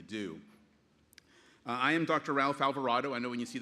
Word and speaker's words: Alvarado: They think of avocado and desperado and different things, but Alvarado is how you pronounce it, and I'm proud